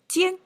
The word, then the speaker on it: 戋: I had to check out a dictionary to find out the pronunciation. Jian, okay.